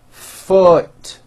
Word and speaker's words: foot: double O but it is pronounced with a lower vowel sound uh foot food foot o food